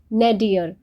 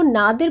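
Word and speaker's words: nadir: यानी बॉटम पर दिखलाइन ना डियर इसको नादिर प्रोनाउंस नहीं करना है इसका मीनिंग होता है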